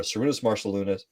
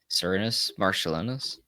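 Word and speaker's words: Šarūnas Marčiulionis: Sarunas Marciulionis. Ah, that's not how you pronounce that name. How do you I pronounce think that? I'm pretty close. Cernus, Marcellinus.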